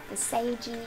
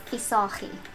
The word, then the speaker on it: Visagie: Well, my last name is pronounced very differently. It's very guttural because my last name's Afrikaans. So you guys will pronounce it Visagie or Visagie, but it's Visagie.